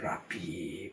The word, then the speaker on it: 랍비: 약간 히읗 발음이 납니다.